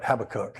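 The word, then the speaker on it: Habakkuk: It's Habachok. I'm telling you it's always been Habach, but somebody is saying hab Habacook and I I just can't get that out of my mind for some reason.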